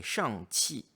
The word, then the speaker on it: Shang-Chi: Eh oui, vous avez bien entendu la prononciation est Shang-Chi, Shang-Chi. Et elle a une phonétique un peu différente en Chine continentale, S-H-A-N-G-Q-I. Et non C-H-I.